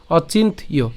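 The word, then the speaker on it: অচিন্ত্যো: এরপরে এখানে কি আছে জ ফলা আছে এবং তার সাথে কি আছে ওকার আছে তাহলে জফলা এবং ওকার যদি একসাথে উচ্চারণ করি তাহলে তার উচ্চারণ কেমন হবে ইয়ো ঠিক আছে অচিন্তীয় তাহলে একসাথে যদি উচ্চারণ করি একই সাথে অর্থাৎ আমরা ভাঙছি ঠিক আছে কিন্তু পাঠ করার সময় তো আমরা একসাথে উচ্চারণ করব ঠিক না তাহলে একসাথে উচ্চারণ করতে গেলে উচ্চারণটা কেমন হবে অচিন্তীয় অচিন্তীয় ঠিক আছে তাহলে আবার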